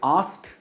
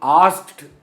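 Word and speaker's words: asked: और एक चीज, यहां पे जो प्रोनाउंसिएशन है, हम आस्क्ड नहीं बोलते, हम आस्क्ड बोलते हैं। एंड जो होता है वो ट में एंड होता है, आस्क्ड।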